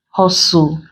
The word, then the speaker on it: hustle: also have silent t there are words that contain silent T where it's like Hustle bustle Nestle opposed to Castle wrestle whistle it is also silent